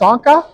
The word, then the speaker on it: Sonka: be okay your name is pronounced sonka yes sonka perfect everybody come on over